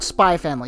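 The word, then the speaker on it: Spy × Family: was our first runner-up, Spy X Family. Or Spy Family. You know, why put the X if you're not going to pronounce it?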